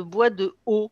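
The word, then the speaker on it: bois de Hô: Et dans ces périodes-là, on peut utiliser de l'huile essentielle de bois de haut, ça s'écrit H-O, qui est une huile essentielle d'une espèce très proche du bois de rose et qui vient d'Asie du Sud-Est.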